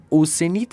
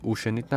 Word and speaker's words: Oceanid: اوشنید رو تلفظ کرد اوسنید اسم اینا. اینترستینگ. این جالب بود. یعنی هم مدت داشتیم اشتباه میزدیم بچه ها. اوسنید بوده اوشنید نبوده.